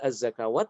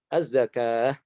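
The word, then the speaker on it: الزكاة: Az-zakah bukan az-zakawat. Ya. Ini jadi wawu tertulis berbeda dengan pengucapannya ya. Wawu tapi dia diucapkannya apa? Alif ya. Tidak dibaca az-zakawat tapi az-zakah.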